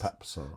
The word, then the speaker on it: Pape: goal the midfielder um Pape papar it is papar but he's he's been browbeaten to telling everyone it's Pape s because everyone at Tottenham calls him Pape because it's spelled that way yeah but it is